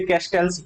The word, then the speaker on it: Castells: मैं manual कैसल्स बोल जाता हूं क्योंकि प्रोनाउंसिएशन में थोड़ा सा, जब हम स्पेनिश में जाएंगे तो उसे कैस्टल्स ही पढ़ना पड़ेगा, लेकिन इंग्लिश में अगर जाएंगे तो रियल के बारे में थोड़ा सा साइलेंट कुछ है, तो आप कैस्टल्स ना कैस्टल्स ही बोले तो ज्यादा सही है।